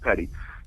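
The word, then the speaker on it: petit: a civilians Petty trial it's spelled p-e-t-i-t it's pronounced Petty civilians Petty trial at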